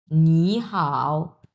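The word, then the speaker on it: 你好: থাকতে পারে যেটাই থাক প্রথম ওয়ার্ডটা আমরা উচ্চারণ করব দুই নাম্বার টন এবং পরেরটার কোন পরিবর্তন হবে না যা আছে তাই তিন নাম্বার টন আছে তিন নাম্বার টন সো আমরা উচ্চারণ তাহলে কিভাবে করব নি হাও নি হাও নি হাও উচ্চারণ তখন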